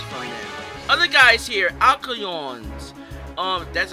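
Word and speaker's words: Alcyone: Other guys here, Alcyons, that's how I pronounce the name, 430 HP, they're weak to fire!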